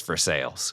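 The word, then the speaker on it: Versailles: and it's in versales which is spelled Versa but in Kentucky it's versales right yeah they didn't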